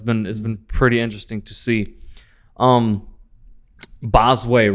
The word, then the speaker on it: Bosue: So bit, not Bosue, Bosue. Bosue. Phonetically, it's Bosway.